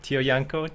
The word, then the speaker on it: Tiojanco: say your last name Tio Yanko Yanko oh man so the Tio is pronounced oh um yeah one